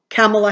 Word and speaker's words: Kamala: said Cindy my dear it rhymes with Pamela and this big huge lightbulb went off in my head so Camilla Harris I'm so proud